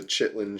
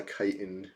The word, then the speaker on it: chitin: Apparently it's crystal chitin gauntlets. That's the proper. Yeah. But I thought I've been saying chitlin. This is a chitlin shell shield, not a chitin shell shield.